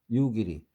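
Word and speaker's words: 夕霧: 유길이. 유길이란 말은 저녁 석자에다가 안개 무자를 써서 유길이라고 읽습니다.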